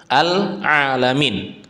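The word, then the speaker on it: العالمين: Dan ini kita baca menggunakan ain alamin. Menggunakan ain bukan menggunakan hamzah. Alamin. Bukan. Karena artinya berbeda.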